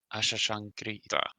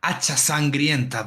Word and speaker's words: Hachasangrienta: Hachasangrienta. Did I say that right? Well, it's more like Hachasangrienta, but it's okay.